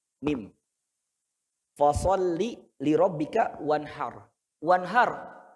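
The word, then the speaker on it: وَانْحَرْ: Wanhar, ro-nya tebal atau tipis? Kenapa? Karena ro-nya sukun, sebelumnya fathah. Wanhar ro sukun, sebelumnya fathah. Jadi dibacanya wanhar, wanhar, wanhar, har, har, Pak. Har, wanhar, har. Jadi lidahnya agak naik ke atas.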